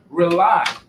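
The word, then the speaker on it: RAULI: that's their son this is in your Zulu rely is spelled r-a-u-l-i it stands for rebooting and uniting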